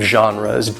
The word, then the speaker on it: genre: types of genres so notice the pronunciation of this especially in English it does not sound the way it looks that G does not have a G sound it's more of a sound genre it's not again ray